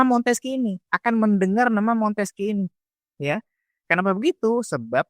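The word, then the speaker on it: Montesquieu: Kalau namanya Monteski ini tulisannya Montesyeu. Montesyeu ya tulisannya begitu. Tapi dibacanya Monteski.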